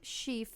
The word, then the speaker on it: Shieff: eggs all of it is so interesting Tim shieff is bahama to pronounce his last name it's sh IEF F